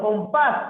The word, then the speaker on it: compás: Por ejemplo, compás, profe, la sílaba con mayor fuerza de voz es paz, es la última, y termina en S, entonces debe tildar.